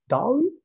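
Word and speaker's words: DALL-E: gp3 and down e and Dali this is pronounce that way uh which yeah have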